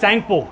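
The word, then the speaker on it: Tsangpo: Indus सैंगपो, इट इज टी is silent, SANGPO, सैंगपो।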